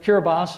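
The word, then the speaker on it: Kiribati: of New Zealand and pure bas or or the way it's spelled is cure body has 110,000 residents and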